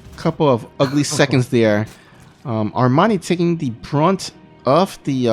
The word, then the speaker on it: Armani: Now, I still say Armani is in okay position, but I mean the army and the distance between the two are a lot more closer.